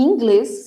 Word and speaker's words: inglês: E inglês, sendo que a sílaba tônica está no glês, tá?